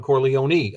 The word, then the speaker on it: Corleone: did pronounce it right in Italian for all the pisans out there uh out in h twolegs land you pronounce every letter right and I had